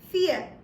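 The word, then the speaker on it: vier: firstly so in German four is written and spoken as fear so how will you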